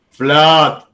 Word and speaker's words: flood: Pay attention, pronunciation, because pronunciation, flood, blood, but that is why English is difficult. Book, food, look, but blood, flood.